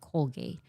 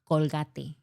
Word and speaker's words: Colgate: I seen in English media they pronounce it like Colgate but in Latin America we say Colgate.